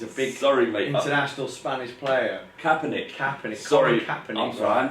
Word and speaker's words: Kaepernick: And Copernic now doesn't have a club to play for, directly because of his.